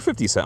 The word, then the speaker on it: 50 Cent: She's like, she keeps calling him 50 cents to be funny. And people are like, no, it's 50 Cent.